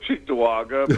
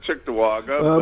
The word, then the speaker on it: Cheektowaga: relatives that lived, and I still pronounce it Cheektowaga, but I heard you pronounce it Chicktawaga.